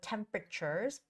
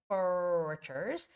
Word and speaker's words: temperature: forecast forecast and also temperatures temperatures and I see some students in Korea saying temperature which is wrong it's temperature with the first syllable stress it's temperatures temperatures word